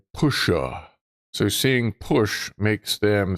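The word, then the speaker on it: puxe: which is pronounced like pusha.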